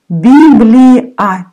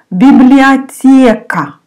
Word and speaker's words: библиотека: Библиотека. O you pronounce like A. Библиотека.